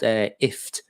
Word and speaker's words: IFTTT: know her answers properly it's called ift so press as in gift as a gift you give someone but without the the go so it's ift now if it connects